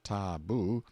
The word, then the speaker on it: tabu: and concealed themselves in hiding-places till the tabu pronounced taboo, means prohibition, we have borrowed it, or sacred.